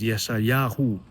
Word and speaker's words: Yeshayahu: His name is Isaiah, and I'm telling him here that this is the way your name really is. This is how it's pronounced. It's Yeshayahu, right?